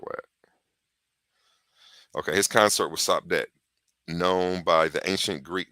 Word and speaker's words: Sopdet: And that's the SPDT, because when you're spelling when you're speaking in metanetter, you just take the vowels out, and that's how you pronounce the word. So SPDT would be Sopdet. You see what I'm saying? Without the vowels.